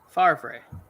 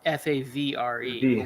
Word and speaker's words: Favre: Tom Brady is well it's like it's favra Favre fav yeah exactly but he's fav because that's